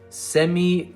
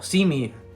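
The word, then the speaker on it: Simi: always get his name wrong how do you pronounce it semi no see me see me hoku uh the receiver that we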